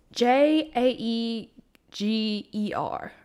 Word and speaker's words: Jaeger: um it's pronounced Jaeger like Yay celebration and then girl like you growling at someone I don't know why